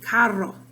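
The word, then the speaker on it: carro: rolling your r okay so there's the word car in spanish cairo so you spell it c-a-r-r-o but in spanish you would say it caro and you roll your r there okay that's an example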